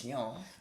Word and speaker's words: Etienne: Etienne. Etienne, you pronounced it really well.